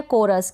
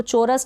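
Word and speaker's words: chorus: फिर यह है कोरस, क्या है? इसको चोरस ना पढ़ें।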